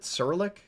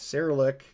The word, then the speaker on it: Cyrillic: yeah that is sarah how do you pronounce it sirlik seralic cyrillic that's cyrillic i don't think i